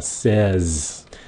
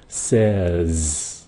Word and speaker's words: says: Phát âm là says. Nghe kỹ đó nha. Says. Say với lại says.